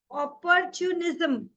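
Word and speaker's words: opportunism: ना उसने अपॉर्चुनिटी नेस इसको प्रोनाउंस करो ऑपर्चून जम ठीक है पोर्च जम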